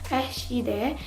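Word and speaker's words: Rechtsidee: Sebenarnya, kata ini diambil dari bahasa Dutch atau Netherlands yang pronunciation aslinya Rechtside yang artinya ide hukum atau cita-cita hukum.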